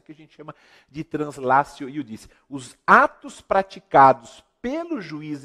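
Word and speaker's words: translatio iudicii: E um detalhe importantíssimo, meus queridos amigos, não se esqueçam da chamada translatio iudici. Translatio, né, com T se escreve, se pronuncia translatio, iudici, com 2 Is no final.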